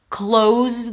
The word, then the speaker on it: close: Close the door with a Z, or come sit close to me. We're sitting close to each other. Close. Long O as in go, and then an S. The only difference here is the S versus Z.